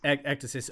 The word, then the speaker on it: Ekdysis: But, you know, from Ekdysis, if that's the right pronunciation, is that how you say it? Yeah, Ekdysis onward.